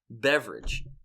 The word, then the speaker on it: Beveridge: So not beverage like drink a beverage, but it's pronounced beverage.